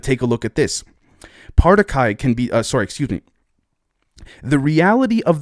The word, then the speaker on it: Partiki: Again, they just said it here, the Partiki, and you pronounce it like party and guy.